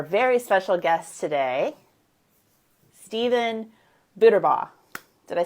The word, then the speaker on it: Buterbaugh: But it was all about, the art of a great phone conversation, which brings me to our very special guest today, Steven Buterbaugh.